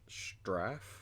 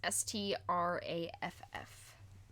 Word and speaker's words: Straff: Venture Lord straff Venture straff yes s t r a FF straff yes spelled like it sounds spelled like it